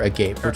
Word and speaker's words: agape: a gape is not a gape. It is agape. And the reason is is because the description says boundless without conditions which is the exact definition of agape.